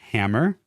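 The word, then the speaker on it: Hamor: a person named Hammer. H A M O R Hammer.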